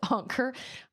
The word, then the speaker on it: Anker: Ancher is pronounced anker.